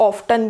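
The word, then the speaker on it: often: होगा, कई बार लोग ऑफ्टन भी बोलते हैं। ऑफ्टन आप बोलें तो बहुत गलत नहीं है, लेकिन वो पुरानी प्रोनाउंसिएशन है, अब वो ऑब्सोलीट हो चुकी है, तो ऑफन करेक्ट प्रोनाउंसिएशन है इसकी।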